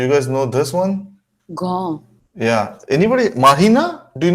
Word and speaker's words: grand: Grand.